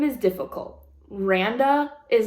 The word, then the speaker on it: Randa: said it's miranda without it's just like miranda without the mi you say randa and then is